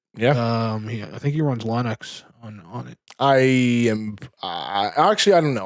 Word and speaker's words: Linux: I think he runs Linux on it.